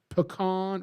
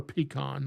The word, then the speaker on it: pecan: a pecan tree, that I hope nobody pronounces it pecan tree. It's pecan or pecan, not pecan.